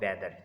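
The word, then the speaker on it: whether: वाई कहेंगे, वेयर और वेदर। यहाँ पर भी डब्ल्यू के बाद जो एच है वो साइलेंट है।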